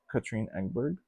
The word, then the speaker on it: Katrine Engberg: The third prompt was Pick My Own, and I chose The Butterfly House by Katrine Engberg.